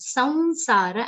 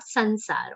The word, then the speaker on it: saunsara: Saunsara, the anuswaran, sir, will be pronounced like a nasal vowel consonant. Saunsara and not sansara or samsara.